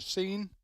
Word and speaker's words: Seine: teams coming down the river, the famous river Seine. Is that the way it's pronounced? Seine River, yep.